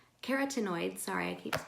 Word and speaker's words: carotenoids: plant foods are full of a variety of cartoon aids carotenoids sorry i keeps mispronouncing that many of which can be precursors